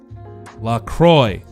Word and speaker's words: LaCroix: look at this and helpfully mentions that it rhymes with la croix boom on the website better sit down better sit down such an american statement bam it rhymes with enjoy lacroix i know my